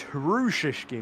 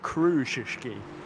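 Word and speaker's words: Krzyżewski: It's Hrushishki, not Krushishki. So I've been mispronouncing the Polish driver's name there, so that's good to know.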